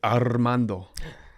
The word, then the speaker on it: Armando: My roommate in rehab was a gangbanger named Armando. Say it. I can't say it like that. Armando. And if you didn't roll the R's, he corrected you.